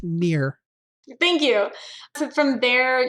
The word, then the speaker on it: Neher: It's Neher. Yes, and the H is silent. Neher, pronounced near.